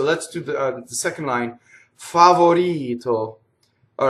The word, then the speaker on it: favorito: So double V, favorito, people go favorito and double the T and double the V. So the way to do it is not think about the consonants in this. The consonants will still be sharp, but the vowels are long. So if you isolate the vowels, A, O, I, O, and then you do them very long, A, O, I, O, and now you add the consonants, favorito.